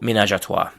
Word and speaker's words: ménage à trois: So the next word in this category is ménage à trois, and it's generally pronounced in English with something like the French pronunciation, so ménage à trois.